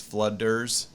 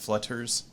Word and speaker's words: Flooders: u t t RS when I say it it's flooders not flutters yeah y'all ain't got